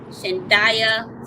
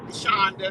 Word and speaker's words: Shandia: your name right pastor shandaya little did i say it right shonda but you did well though considering shonda okay all right that's